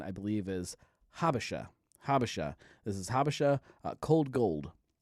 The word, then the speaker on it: Habesha: The pronunciation, I believe, is Habesha.